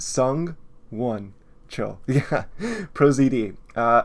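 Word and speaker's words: Sung-won: he made a freaking video about how to pronounce his name it's sung one chill yeah Pro ZD uh I do I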